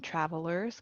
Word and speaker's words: travelers: And again, in travelers, cross out that first E.